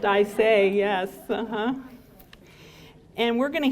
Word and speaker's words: Isay: I pronounced Isay, yes.